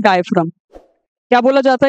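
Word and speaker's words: diaphragm: हम क्या बोलते हैं, डायफ्राम। क्या बोला जाता है इसे, डायफ्राम। और डायफ्राम के अंदर वो जी साइलेंट है, ठीक है।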